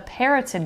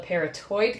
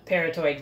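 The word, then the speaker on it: parotoid: their eye is a poison gland called a parrotin gland and by the way as i'm editing and doing further research i am now realizing this gland is called a peritoid gland not a parrotin gland so ignore me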